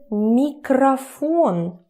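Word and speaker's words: микрофон: Because we already know when stressing goes here, this one turns to a.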